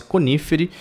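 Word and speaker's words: Coniferae: A classe Conífere. Aqui é o seguinte, a gente fala Conífere porque a letra A, quando vem antes da E, a gente não pronuncia, tá?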